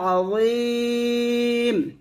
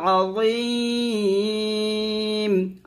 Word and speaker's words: আযীম: রুকুর তাসবিহটা হচ্ছে সুবহানা রাব্বিয়াল আযীম। এখানে সুবে কলকলা করতে হবে, সুবহানা রাব্বিয়াল আযীম, আযীম এভাবে।